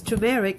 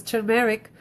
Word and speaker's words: turmeric: the number three is turmeric it's it's not pronounces tumeric it's pronounced is turmeric and the art is not silent if you